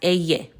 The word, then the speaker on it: ll: But in Spanish, it is pronounced eye.